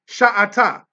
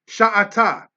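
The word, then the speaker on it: שָׁאַתָּה: We see it right there, Kwamatz under the sheen, meaning that it's pronounced as Sha. Sha'ata.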